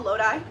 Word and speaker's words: Lodi: These are all Lodi, California.